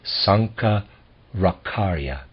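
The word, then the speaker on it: Shankaracharya: ra CH AR yaa I'm gonna pronounce that Sanka rock aria we will pay less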